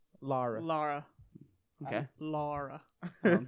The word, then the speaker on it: Lara: It's pronounced Lara.